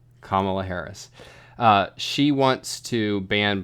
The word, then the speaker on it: Kamala: outlawing internal combustion vehicles Camilla Harris I'm sorry I mispronounced that I don't know how to pronounce that thank you I think it's it's Kamala Kamala Harris she wants to